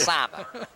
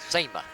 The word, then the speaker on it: Simon: They pronounced Gino's name right. It's Simon, not SEMA.